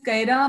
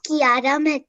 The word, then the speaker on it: Kiara: we have next is kaira mehta if you are not participating just let me know okay ma'am my name is kiara yeah sorry i was not pronouncing correctly i'm so sorry it's